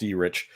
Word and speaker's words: Erich: In the clubs, it's pronounced E-Rich, but I have scheduling and estimated production time for screen printers.